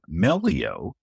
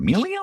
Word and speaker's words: Melio: So, shifting gears to Melio. And there's always the the debate of how do you pronounce this this term? Is it Millio or Melio? Right.